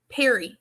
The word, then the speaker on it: Calipari: name and you say calipari, is it Pari or Perry? Perry. He said it in the press.